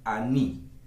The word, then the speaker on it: ani: Se dice aní.